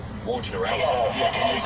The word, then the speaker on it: Wojnarowski: The words say war, gin, something to drink every day. Sure. Owski. Wojnarowski.